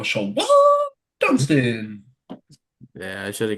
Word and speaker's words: Shawon: First name is spelled Shawon. So Siobhan. whenever we bring him up, we always go Shawon.